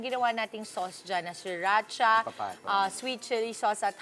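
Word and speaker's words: sriracha: Mamaya yung ginawa nating sauce diyan na siracha ah sweet chili sauce at honey. Paano ba-pronounce diyan? Siracha. Shiracha.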